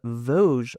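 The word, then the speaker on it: Vosges: And these were crafted from wood grown in the Voge forest. Yes, I love the pronunciation of that because it's not spelled like that at all.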